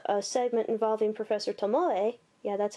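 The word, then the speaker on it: Tomoe: to us via a segment involving Prof Professor Tomo yeah that's how you're supposed to say his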